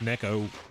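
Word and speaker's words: Neko: well U but it's it's actually pronounced Neco so it's Japanese for cat I like to try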